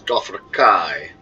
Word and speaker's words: Dothraki: George R.R Martin himself he calls the Dothraki the dothrakai so there's no real